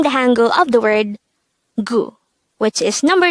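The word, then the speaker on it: 구: Next, the Sino-Korean version of number 9 is gu. Again, it's gu. This is composed of just 1 syllable.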